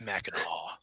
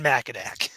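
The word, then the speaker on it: Mackinac: of people mad too it's MAA it's it's never been macak well then why they spell it two different ways I have no idea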